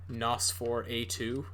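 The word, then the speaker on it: NOS4A2: highly, highly, highly recommend Nosfor A2. That's spelled N054A2. Like it's a license plate.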